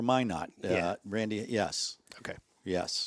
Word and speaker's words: Minot: It was Why Not for Minot. Yeah. Randy, yes. Okay. Yes. Anyway, I don't want to pile on. No. I think that's Minot, North Dakota or South Dakota?